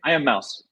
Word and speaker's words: Immauss: the owner and CEO of make sure I pronounce this right I'm a mouse do I have that right I am Mouse yes I am Mouse Technology Solutions thank you